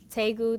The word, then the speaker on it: Daegu: first base was in daegu south korea tegu tegu if you've been there you know how to pronounce it and so see yeah they're like is they good i'm like okay i'm trying taegu was what my order